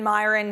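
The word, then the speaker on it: Miran: There's a lot with Stephen Myron here, or Moran, I've heard it pronounced both ways, at this interview with CNBC.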